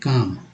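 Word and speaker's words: calm: इसके बाद सी ए एल एम, देखिए काम, काम में शांति।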